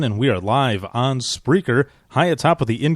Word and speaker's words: Spreaker: I thought it was Speaker. No, it's actually called Spreaker? Spreaker. Yeah, Oh, okay. SPREA, Oh, okay. and then. Oh, see, I would have said it wrong.